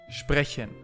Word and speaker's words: sprechen: This one sounds like a very gentle vampire speaking. Sprechen, to speak.